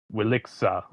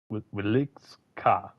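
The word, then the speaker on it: Wieliczka: This is the tough part because it's like, how do I pronounce that name? Wiliksa. Wilikska salt mine.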